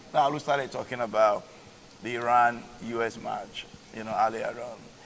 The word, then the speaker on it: Iran: America up until what you are mispronouncing the name of that country is not Iran is Iran and the guy was